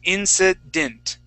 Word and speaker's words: incident: happening there is we're we are ignoring that that e is an e and we're pronouncing that like an a short I sound okay the short I sound is that I sound like it is okay okay Incident That's